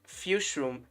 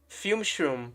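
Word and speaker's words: Fume-shroom: Because I do think that Oh, you pronounce it f Okay, wait. Froom. Fume. Fumeshroom, right? Fumeshroom.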